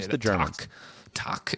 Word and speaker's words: tak: Tak is how you say that in Danish.